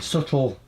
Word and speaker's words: subtle: we're interested in doing subtle with a silent b if you want to